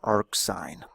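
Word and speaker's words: arcsine: Uh by the way inverse sign is sometimes pronounced ark sign.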